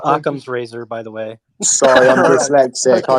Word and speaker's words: Occam's razor: need to propose them through governance anyway so Logan's razor really comes into this in a nutshell yeah yeah but it's pronounced Occam's razor by the way dyslexic I read things backwards